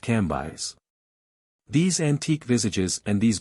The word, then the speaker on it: Cambis: which was pronounced Levi cambis pronounced ambis these antique visages and